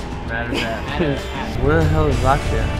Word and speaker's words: Madars Apse: mad respect for that how do you say your name mothers properly and last name mothers so all the Americans I say matters apps matters apps where the hell is